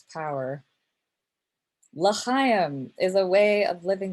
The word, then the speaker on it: L'chaim: Only I completely mispronounced L'chaim. I pronounced it, oh, it's so bad, L'chim. Okay, over and over, L'chim, L'chim.